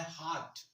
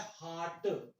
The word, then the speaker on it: heart: और ध्यान रखना, इसका प्रोनाउंसिएशन होता है हार्ट, हर्ट नहीं होता।